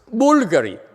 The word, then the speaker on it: Bulgari: improperly okay for example how do you pronounce it should be pronounced as bulgari see some people what